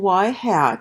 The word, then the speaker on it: y hat: not the independent variable anyway a constant function y hat so that's a little carrot on top of the Y but it's pronounced hat so y hat that is a